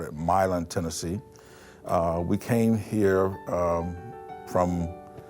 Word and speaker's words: Milan: up in Tennessee West Tennessee a town called Milan some would pronounce a melange like Milan it but we call it Milan Tennessee we came here from Korea but Tennessee